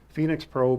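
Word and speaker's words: Phenyx Pro: by the way is not spelled like Phoenix Arizona it's p-h-e-n-y-x Phoenix Pro pto7000 consistently came up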